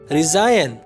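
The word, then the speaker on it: resign: रिजाइन, इस्तीफा देना, तो रिजाइन में जी साइलेंट है।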